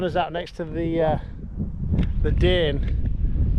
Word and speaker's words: Dane: It's thrown us out next to the Dane. I've been told that's how you pronounce it by a local, so if it's wrong, she was lying to me obviously.